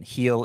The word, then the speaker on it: Gil: Heel is spelled G-I-L.